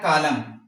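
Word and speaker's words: column: यानी पहले तो ये है कि वर्ड का एंड हो और एम के बाद आए तो ये हमारे पास एन जो होता है वो साइलेंट होता है।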